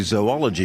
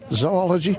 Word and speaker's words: zoology: you and you and you say zoology which is the correct pronunciation that's it zoology cryptozoology that is creatures